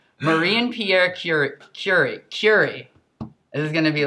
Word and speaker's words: Curie: It's not curry. Curie. Yeah. Not Curie, though. I'm trying to make it sound French. Pierre Curie. Curie, you want to say? Marie and Pierre Curie.